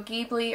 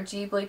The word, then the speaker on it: Ghibli: kaguya and it's a studio ghibli or jeebly people pronounce it differently um animated film and